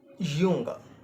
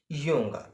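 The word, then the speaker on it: Junge: the word boy but in German we said yunga Yung you know if you uh watch the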